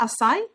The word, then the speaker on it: Asai: so scott and let me see if i'm pronouncing your name right is that assai yeah scottasai is a profe a professional speaker